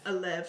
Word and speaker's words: Elev: Elf, is that how you say it? Elev.